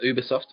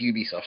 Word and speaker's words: Ubisoft: Is Uberoft or Ubisoft? Okay, it is Ubisoft.